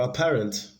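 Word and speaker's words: apparent: parent a parent for a parent we have option one of sha a that's paragraph paragraph remember a parent has this stress on the second syllable it's a three syllable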